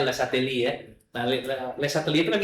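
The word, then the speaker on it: Le Chatelier: Perubahan ada tapi pakai tangan kecil ya kan kalian belajar asas le lesateli kan ya belajar enggak tulisannya leatelier bacanya lesateli ya nah lesateli itu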